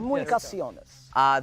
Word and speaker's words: Comunicaciones: Comunicaciones.